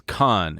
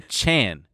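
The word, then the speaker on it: Cahn: My last name is Khan, and it's spelled C-A, oops, C-A-H-N, and they would say Chan every time.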